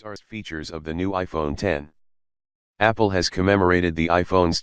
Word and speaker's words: iPhone X: since the original iPhone it's not pronounced iPhone X it's the iPhone 10 and the screen takes